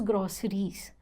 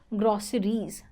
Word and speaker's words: groceries: word here pronunciation is groceries groceries there is Zed sound at the end groceries okay let's look